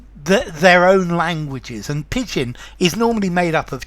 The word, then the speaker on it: pidgin: hi there students pigeon okay pigeon English so notice it's spelled differently from the from the bird okay pigeon is a